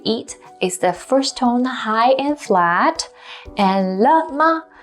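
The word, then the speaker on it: 嗨: by younger people so simply say hi as you would say it in english because hai is translated from english based on the pronunciation hi the next set of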